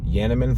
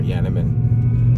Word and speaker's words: Janneman: am smoking i say yeah man flake because i'm pretty sure that's how you pronounce it a gentleman or yaniman it's an hu tobacco